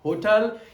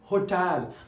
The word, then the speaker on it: hotel: So always remember, keep in your mind that it is not hotel, it is होटल।